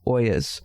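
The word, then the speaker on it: olla: get wet by these Oyas. So I'm not very knowledgeable about them. I'm very curious about them. And again, it's spelled O-L-L-A. Even though you're being fancy and saying Oya. Oya. Oya.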